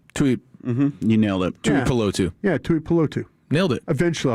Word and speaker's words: Tuipulotu: I like Chief coming in clutch with back-to-back days of Islander pronunciations. Yeah. Thank you. I mess those things up. Tuipulotu. Almost. Tuipulotu. Right? Yeah. You nailed it. Tuipulotu.